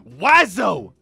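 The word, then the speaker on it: oiseau: It's pronounced wazo. Wazo? Wazo. The fuck? It's actually wazo, apparently.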